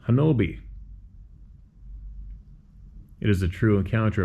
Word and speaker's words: Honobia: The story is well known, and you can find it online by searching The Siege at Honobia, pronounced Hanobi.